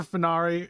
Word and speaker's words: Fenari: Is it Fenari or Fennery? Fenari for one. Say 1 for Fenari and 2 for Fennery. Or 3, I'm completely wrong. 1, Fenari. Okay, cool. I was saying it right.